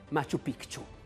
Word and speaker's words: Machu Picchu: le città degli Inca, Machu Picchu. Pare che si pronunci così, facendo sentire la C dura.